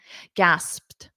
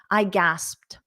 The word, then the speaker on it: gasped: for the P but then you have a TT a soft T very very soft T at the end gasped I gasped so you might need to practice that PT combination I'll say it three